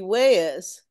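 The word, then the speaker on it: juez: is Spanish for judge how do you say A J here wayes in in Spanish it would be wayes in in Spanish it's wh one syllable wh a judge Plaza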